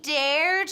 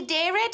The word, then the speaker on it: dared: do it at home now say it with me and say it correctly he dared her he dare it her no he dared her good so he dared her